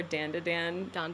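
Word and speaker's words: Dandadan: pronouncing it dandon or Dandan D in English a lot of people say Dandan but I think in Japanese it would be dandon so I've been saying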